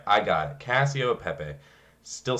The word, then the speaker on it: Cacio e Pepe: So I believe it's pronounced Cacio de Pepe or D Pepe. Didn't get the D in there. Cacio e Pepe. There we go. Yeah, Cacio e Pepe.